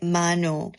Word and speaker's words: Manon: So my three bias are Yuna, Manon, how to how to pronounce her name? Manon, Manon, Manon, and um Sophia. Yeah. So those are the three. Manu Manu. You say Manu. Oh, so you pronounce it Manu.